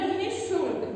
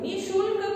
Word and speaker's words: निःशुल्क: प्रातः, अतः, ह के जैसे हलंत है कि जैसे इसका उच्चारण होता है, और ये विसर्ग का चिन्ह है।